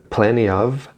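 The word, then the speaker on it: plenty of: vai suprimir o tênis ele vai pronunciar planeava planeava que é uma outra forma de dizer muito muitos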